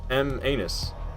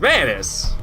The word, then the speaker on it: Manus: skipped the last one is it pronounced is it not pronounced M anus no it's not pronounced Manus I don't think M anus it's Manis isn't it it's Manis I'm like 100% sure it's Manis everybody says Manis I like the two